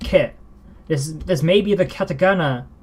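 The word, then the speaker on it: ヶ: This may be the katakana for ke, but in its context as a counter, it is used as ka. And what is ka? And what is this ke that's pronounced ka in this context?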